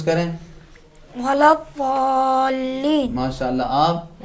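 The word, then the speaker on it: ولا الضالين: زبان کی سائیڈ کو، زبان کی کروٹ کو سائیڈ کے دانتوں سے لگائیں گے. کس طرح ادا کریں گے؟ غیر المغضوب علیہم ولا الضالین. ولا الضالین.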